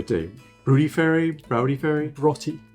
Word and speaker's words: Broughty: Broughty. Just imagine B-R-O-T-T-Y. Broughty.